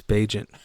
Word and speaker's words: Bagent: No, it's It's Bagent. I forever will get this guy's name wrong.